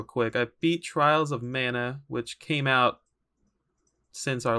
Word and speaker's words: Mana: but i'm doing it i would say it's mana because that would be the japanese pronunciation but you can say